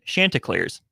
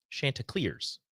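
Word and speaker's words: Chanticleers: 20 American pronunciation pronunciation Shanta clear shant Shanta clears Shanta okay Shanta clears Shanta clear kind of emphasize the clear shant clear there you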